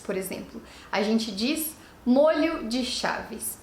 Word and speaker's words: molho: a gente fala um molho de chaves. E se forem mais, 2, 3, 4 molhos de chaves. Essa é a pronúncia correta, uma pronúncia aberta, diferente do molho culinário.